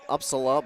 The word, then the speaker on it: Upsala: The Upsala ball is how you say it.